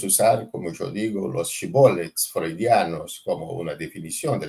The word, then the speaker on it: Shibboleth: los enemigos, estos enemigos preguntaban, decís shibboleth, y este grupo, por una dificultad en la pronuncia de la palabra, decía Sibolet, y los mataban, porque era una contraseña, ¿no? Tenés que decir Shibboleth, y este grupo no sabía decir Shibboleth, entonces los mataban.